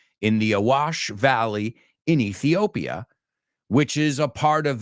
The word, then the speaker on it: Ethiopia: it's a country but we don't pronounce you say EOP I don't even know how you say it inter we say Ethiopia so that Ethiopia and